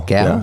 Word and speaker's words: Gal: Gal? Gal.